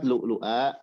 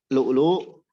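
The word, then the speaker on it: لؤلؤ: Lu'lu kemudian muqsadah itu biibdalin qara. Hamzahnya dibaca diibdal, yakni dijadikan mad. Hamzahnya dijadikan waw. Jadi kita bacanya lu'a. Bukan lu'a, tapi lu'a. Jadi mad, dua harokat.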